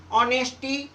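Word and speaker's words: honesty: designer sign assignment next H silent H के बाद ओ आए तो एच साइलेंट जब किसी शब्द में एच के बाद ओ आए तो आपका एच साइलेंट होगा ऑनेस्टी वली नरेल देखो इसमें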